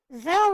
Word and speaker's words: Zelle: recipient that is blocking Zelly or Zelle or whatever you call it. Oh, Zelle rhymes with okay. Zelle rhymes with hell for a reason.